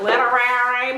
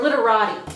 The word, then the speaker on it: Literati: Okay, I say it wrong. I'm like literary, but I think it's like literari or something like that. Is it? Or literati. Literati. That's what it is.